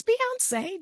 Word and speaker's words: Bionce: People are like, "How do you say your name?" Yeah, it's Beyonce just like this singer.